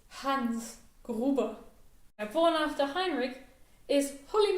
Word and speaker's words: Hans Gruber: throughout the entire movie much like hans gruber is not hans gerber it's hans gruber born after heinrich is